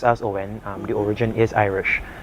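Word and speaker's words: Oein: Yeah, it's it's O E I N pronounced as Oen.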